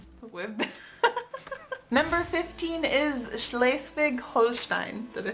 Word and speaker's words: Schleswig-Holstein: We've been Number 15 is Schleswig-Holstein.